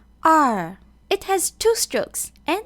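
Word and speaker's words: 二: where to put the stroke this character is pronounced R it has two strokes and it looks like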